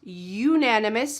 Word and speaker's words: unanimous: So here we're talking about the first sound of that second word that's different. Unanimous.